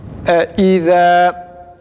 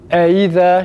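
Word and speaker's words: إذا: Bunun yanlış telaffuzu ise az önce dediğimiz gibi eize şeklinde okunmasıdır.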